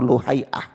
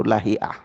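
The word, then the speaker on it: لهيعة: tentang Ana beri contoh Ibnu lahiah lahiah atau luhaiah sudah ya sudah ada dua cara baca ya baca yang Makruf itu lahiah kalau kita melihat biografinya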